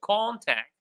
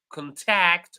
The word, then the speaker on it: contact: All right, so for two syllabic words, when it is a noun, we stress the first syllable. So, for example, contact, record. But when it is a verb, we stress the second syllable, contact or record.